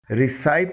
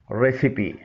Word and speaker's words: recipe: اسے ریسائپ نہیں پڑھا جائے گا. اس کی درست پروننسیشن ہے ریسیپی.